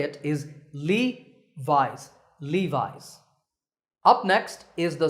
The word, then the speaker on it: Levi's: founder by the way the name is often pronounced wrongly as Levy's that's not correct remember that the correct way to say it is Levi's Levi's up next is